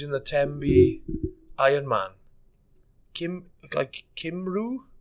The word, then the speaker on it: Cymru: Cymru, but it's spelled Cymru, and that's just Cymru means Wales. I think I have heard of Simru before as well. Simru. That's Simru.